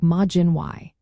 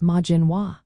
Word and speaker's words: Maidin Mhaith: In Ulster, which is in Northern Ireland, it sounds like Maidin Y. If you find yourself in Connaught, which is in Western Ireland, you would pronounce it as Maidin Wa. In Munster, the southern part of Ireland, it would sound like Maidin Va.